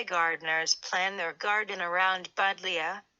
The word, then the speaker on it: Buddleia: Many butterfly gardeners plan their garden around Buddleia, pronounced Budleia, a genus that includes over 100 species and cultivars, also called summer lilac.